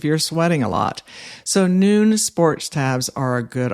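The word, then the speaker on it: Nuun: I often recommend noon sports tabs. That's spelled nu n sports tabs that contain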